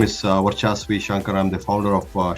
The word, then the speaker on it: Varchas: So Varchas Reserve 102 are pronounced as Varchas, Varchas, V almost sounding like a W, Varchas.